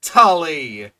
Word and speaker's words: Tully: Colloquially known as the Tuli monster. This extinct animal, you can't even say Tully.